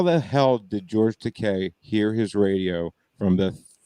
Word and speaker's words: Takei: talking about it's george takei as in rhyme with the gay takai as in rhymes with oh my is incorrect but i mean but